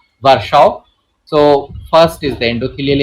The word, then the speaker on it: Virchow: Many people pronounce it as Warkau, but I follow this pronunciation, Warsaw.